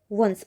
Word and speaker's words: once: अब यहाँ पे ना इसको ओन्स नहीं बोल रहे, इसका प्रोनाउंसिएशन ओ नहीं कर रहे। यहाँ पे इसकी साउंड क्या आ रही है, व। वंस, ओन्स नहीं बोलेंगे, इसको क्या बोलेंगे, वंस।